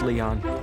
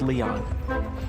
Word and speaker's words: Lyon: It is pronounced Leon. Really? L-Y-O-N is still pronounced Leon.